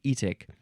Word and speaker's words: etic: It's the suffix etic, and I think you would probably pronounce it etic, but let's see.